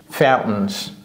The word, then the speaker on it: fountains: Fountains. Vous voyez comment j'ai prononcé ce T là?